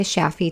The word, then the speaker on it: Shafie: Connect with her on LinkedIn or Instagram at Sheeta Shaffi to learn more. Sheeta is spelled Shideh, and Shaffi is spelled Shafie.